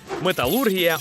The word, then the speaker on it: металургія: все життя казав металургія Та все ж правильний наголос на у серйозно Ого металургія А